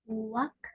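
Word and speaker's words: 왁: Wak.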